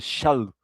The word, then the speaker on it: Shaul: E os gregos tinham essa, essa, essa dificuldade com a palavra, com a letra shin do hebraico, essa pronúncia, Shaul, Shaul.